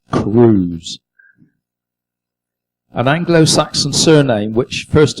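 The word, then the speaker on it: Cruwys: her maiden name i always thought it was cruz but debbie says on here it's pronounced cruz an anglo-saxon surname which first appeared in north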